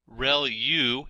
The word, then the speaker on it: ReLU: There are multiple hidden layers like convolution layer relu is how that is pronounced and that's the rectified linear unit that has to do with the activation function that's used.